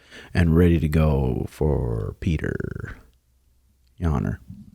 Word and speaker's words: Petr: Pyotr.